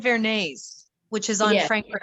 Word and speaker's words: Varanese: think she said Vernay's, which is on Yeah. Frankfurt Avenue. Mhm. How do That's you right. spell that?